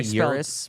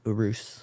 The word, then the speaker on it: Urus: that Ur are us a lot of people say Urus but it's Urus oh I tried a